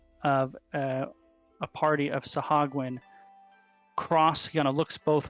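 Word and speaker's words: Sahuagin: see the head of uh a party of sahagun cross kind of looks both ways i'm interested impressed you haven't messed up the pronunciation of sahagwin once i know well ever since we looked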